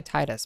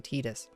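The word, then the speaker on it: Tidus: I always used to say Titus, but I feel like it's actually Titus.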